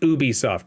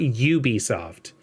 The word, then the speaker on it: Ubisoft: eat an eggplant sir both of you said Ubisoft thank you because that's how you say it it's not you be soft the only thing that's